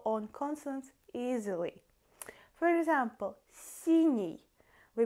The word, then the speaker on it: синий: For example, синий, we pronounce N, синий, and then it goes E to pronounce it easily.